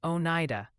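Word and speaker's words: Oneida: watching the New York action gently suggest it's pronounced Onida, Onida, and Interlaken.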